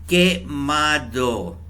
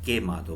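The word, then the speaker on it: quemado: QUE की आवाज़ के वाली होती है, कुए वाली नहीं होगी। के, मिसाल के मादो। ठीक है, तो ये जो है ना यहाँ पे इसको हम के प्रोनाउंस करते हैं।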